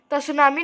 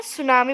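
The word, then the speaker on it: tsunami: सुनामी क्या होता है तस सुनामी नहीं बोला जाता है सुनामी बोला जाता क्योंकि उसका टी साइलेंट होता है।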